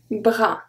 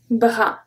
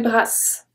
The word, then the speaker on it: bras: Un bras. Un bras. Le repos. Le repos. Okay, so I don't say repos, and I don't say bras.